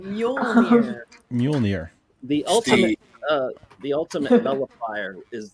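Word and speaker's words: Mjölnir: Don't make me pronounce it because I know I'm going to get it wrong, even though it basically sounds like a cat meowing. Mjolnir.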